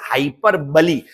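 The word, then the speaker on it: hyperbole: अब जब भी कुछ चीज ज्यादा हो जाती है उसे क्या बोला जाता है, हाइपरबली, या यही इसका प्रॉपर प्रोनाउंसिएशन है, इट्स नोन एज हाइपरबली।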